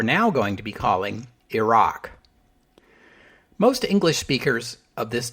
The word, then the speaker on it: Iraq: get with the program Iraq is the pronunciation closest to the Arabic and it is the preferred English pronunciation so that's the one I will try to stick to using some dictionaries list Iraq as an acceptable alternative